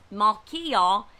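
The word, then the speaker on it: Malchijah: that that repairer's name melhaha let me just make sure i pronounce this right his name correctly malkia means king appointed by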